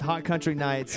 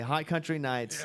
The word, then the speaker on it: Hot Country Knights: In studio now with Hot Country Nights. Yeah. Here they are, finally. .com. The K is silent. Finally, Hot Country Nights.